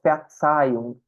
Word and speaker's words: Verzeihung: Verzeihung, aqui com esse som de TS do Z. Fica esse tss, tss. Então, Verzeihung.